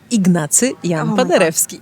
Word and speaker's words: Ignacy Jan Paderewski: me if I'm saying it wrong, is it Jan Paderewski? Ignacy Jan Paderewski. Ignacy Jan Paderewski. Okay, I butchered it.